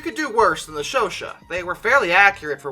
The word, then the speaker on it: Chauchat: The ʃoʃa, which I have looked up the pronunciation of because it's French again, and that always terrifies me. But apparently that's pronounced ʃoʃa, which is good that I checked because I